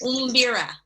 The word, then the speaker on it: mbira: It's umbira.